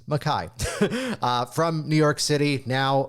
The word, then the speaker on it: Mackay: Take note, it's not Mackay, it's spelled that way, but it's Mackay.